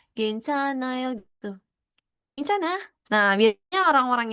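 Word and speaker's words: 괜찮아요: Cuma giatnya ini ya itu dihilangkan bacanya atau silent jadinya Gencana. Jadi nya ini langsung ke A. Gencanayo gitu.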